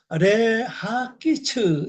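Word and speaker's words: להקיץ: 요건 전치사니까 레하키츠 이렇게 발음하죠.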